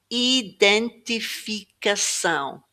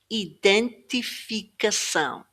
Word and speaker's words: identificação: This is a hard one because all these eyes are e. In the word in English, only a few of them are. In this case, they all sound like e. identificação identificação And finally, this word, cidade.